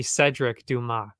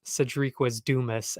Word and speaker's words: Cedric Dumas: name is Cedric Dumas if you actually pronounce it French which is I'm assuming how it's supposed to be pronounced it's actually Cedric Dumas not Cedric was Dumas as they keep saying that's absurd that's not